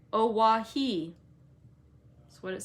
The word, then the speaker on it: Oahu: i named him after this island oahu pronounced oawahi that's what it says